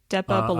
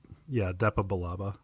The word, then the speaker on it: Depa Billaba: And Master, do we know how to pronounce her name? Depa Billaba. I always thought it was Depa Billaba.